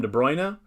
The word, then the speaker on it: De Bruyne: like uh de bruna like a lot of english announcers call him de bruyne but my brother who is who spent a lot of time in his life in netherlands in belgium he pronounced he says it's de bruna the browner the bruno something like that so it's that's actually